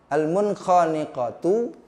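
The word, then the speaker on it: المنخنقة: Selanjutnya lafaz yang ketiga al-mun, munkhafatun, khaniqatu, maaf, al-munkhaniqatu, munkha, nun mati ketemu dengan huruf, ya, yang 6 tuh. Coba kalian ingat-ingat lagi. Kha, mun tidak dibaca mung, tidak dibaca mung, tapi dibacanya mun jelas, dengan dibaca jelas.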